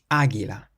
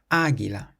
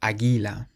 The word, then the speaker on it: águila: We have an accent on the first A, so we pronounce it águila, águila, not águila, águila.